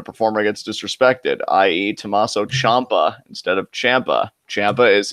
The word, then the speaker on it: Ciampa: I mean, you really want the Blackheart shirt, you should just pronounce his name correctly. It's Ciampa, not Ciampa.